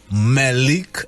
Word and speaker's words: Mahleek: Mahleek, am I saying it right now?